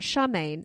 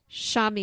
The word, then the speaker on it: Charmian: writers George Johnston and Charmian Clif. I'm saying it correctly. It's not Charmaine, it's Charamian.